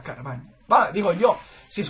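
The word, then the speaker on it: Carvanha: Años tardé, porque yo siempre había dicho Carvana o algo así, porque había una H, pero... En portugués, NH se pronuncia Ñ, entonces, pues, viene aquí a que yo diga Carvaña.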